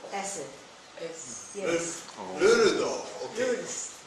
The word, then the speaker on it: Lourdes: Lourdes. Yeah, this is the right That's name. the right thing, but the pronunciation is different. Okay. Lourdes.